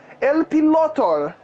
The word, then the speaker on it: El Piloter: And El Piloter, I've said El Piloter, but I've never pronounced the L. El Pilotor. It's Spanish.